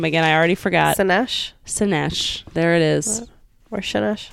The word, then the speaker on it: Szenes: I can't pronounce her last name again. I already forgot. Szenes. There it is. Or Szenes. Szenes. Hannah Szenes.